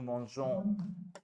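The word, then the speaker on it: mangeons: नू मॉन, वाला, नू मॉन्जों, मॉन्जों।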